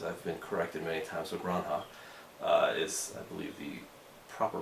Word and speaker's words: La Granja: La Granja, as I've been corrected many times, La Granja is, I believe, the proper pronunciation.